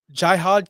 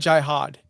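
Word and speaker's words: Jihaad: But did I say his name wrong? I said Jihad. Yeah, Jihad as in Holy War.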